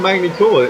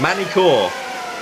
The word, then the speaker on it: Magny-Cours: Yeah, last time we were in Magny-Cours, it was Milkovic that won. Did you call it Magny-Cours? It's Magny-Cours. Yes, I did call it Magny-Cours because I'm British and that's how it's spelled.